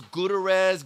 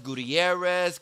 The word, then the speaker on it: Gutierrez: for somebody to tell me yeah i was guterres gutierrez gutierrez i mean i had my name pronounced differently every time i had a year